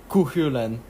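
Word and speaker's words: Cú Chulainn: Or Kuhulan. Apparently that's how you pronounce it.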